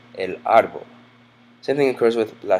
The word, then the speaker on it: árbol: ends in an L, the natural stress of this word would be on the second syllable, árbol. But people don't say that. People say árbol, and to denote this, Spanish includes a written accent mark over it, so that